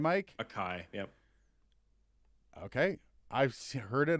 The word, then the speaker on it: Akai: How do you pronounce that? Akai mic? Akai, yep.